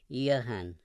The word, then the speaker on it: Johann: Mr. Brewster gave the name its Germanic pronunciation, Johann.